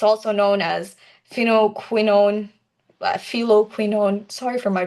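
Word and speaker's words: phylloquinone: It's also known as pheninoquinone, feloquinone. Sorry for my pronunciation if it's wrong, but the ph sounds like F. So F for food.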